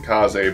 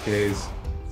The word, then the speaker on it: Kaze: yeah k's are kaze i've heard you pronounce it kaze but it's like when i see the word i my brain wants to say k's maybe in this case it's not like there's funny voice acting i don't know hello it's not really 16 bits see k-a-z-e like my brain wants to pronounce that case wait is that a